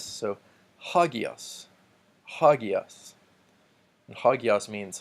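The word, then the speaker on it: ἅγιος: rough reading mark so we will pronounce that with an H and it also tells us that the pronunciation on the first syllable gets the emphasis so ha Geass ha Geass ha Geass means holy or st.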